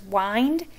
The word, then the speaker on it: wind: of those tricky ones the word is wind because when i wind something up it's it we say wind but this word can also be wind so did caden have